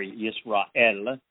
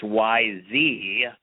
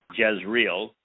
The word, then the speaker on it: Jezreel: Now, it is in Yisrael, or Yisra'el. It's spelled very similarly to Yisrael, but it's Yzrael, Jezreel, that we witness Deborah.